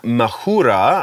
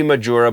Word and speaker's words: Majura: guitar player uh jen mahura i'm assuming that's how you pronounce her name could be majura but i'm pretty sure it's muhura is no longer playing